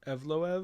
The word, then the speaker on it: Evloev: How do you pronounce his last name? Evloev.